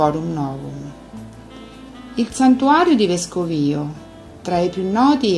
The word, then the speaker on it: Vescovio: Vescovio, la retta pronuncia vuole l'accento sulla I, è quindi l'antica Forum Novum del tempo di Roma e della Sabina.